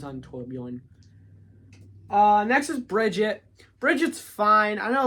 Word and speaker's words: Brigitte: a lot of people is it Bridget or Brigitte I don't like pronunciation I think it's Bridget because she doesn't it's it's not a English word I think it's Bridget I'm gonna go Brigitte because that sounds better Brigitte they have the hammer